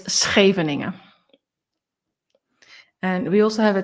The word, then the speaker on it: Scheveningen: So English people probably say Scheveningen, but it's Scheveningen.